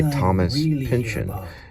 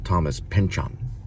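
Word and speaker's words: Thomas Pynchon: Today we're listening to Vineland by Thomas Pinion.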